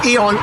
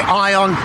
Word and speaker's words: ION: of Singapore this is Eon Orchard Eon people pronounce it different they say ion ion pronounce it as you want I you're not sure